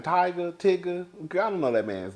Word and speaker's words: Tyga: say his name right it is tiger or Tigger uh tiger it was a picture